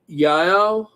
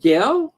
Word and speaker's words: Yael: So I know I'm saying your name wrong, but it's Yael. Yael. Is it Gail? No, Yael. Yael.